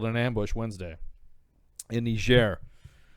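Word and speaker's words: Niger: So what happened was is that uh three three green berets were killed in an ambush Wednesday in Nishair. That's how you say it.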